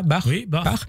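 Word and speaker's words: Bach: Comité international olympique Thomas bar on le prononce comme ça bar qui a indiqué que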